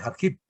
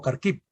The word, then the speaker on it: Kharkiv: con la segunda ciudad, que es la de Kharkiv o Kharkiv, se pronuncia de las dos maneras.